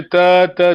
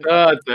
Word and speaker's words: tata: Tata. Essa é ortografia fonética. Não se escreve assim. Okay. Só T-A-T-A, mas assim é vogal longa. A gente não diz tata, é tata.